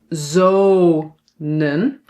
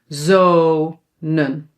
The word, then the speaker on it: zonen: Manen, reden, zonen. So when a syllable is open, it ends on a vowel, then the vowel is pronounced long, but we only need to write one.